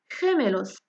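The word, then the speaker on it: gemelos: مع اي واي كتنطق خي خي مع اي كتنطق خ بحال المثال خيميلوس خيميلوس واللي هي كتعني توام خميلوس عاودوها مرايا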